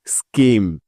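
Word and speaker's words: scheme: যাক আর নিয়মটি হলো শব্দের শুরুতেই এস এর পরেই সি এইচ এই বর্ণ দুটি থাকলে ওই সি এইচ এর সাউন্ড সবসময় ক এর মত হয়ে যায় তাহলে চলো এখন এই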